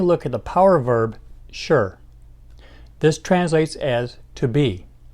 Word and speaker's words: 是: to express identity now by itself is spoken in the fourth tone sure sure otherwise especially in a